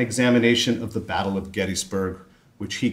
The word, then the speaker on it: Gettysburg: Yes, that's how it's pronounced, Gettysburg.